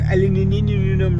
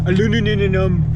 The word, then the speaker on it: aluminum: You know, got some aluminum rods. Aluminium for you Brit bastards and aluminum for you American bastards.